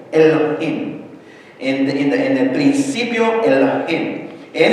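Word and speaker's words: אֱלֹהִים: Y se pronuncia más o menos Elohim, porque la cosa que está como una X es una Aleph que no se pronuncia, los puntitos de abajo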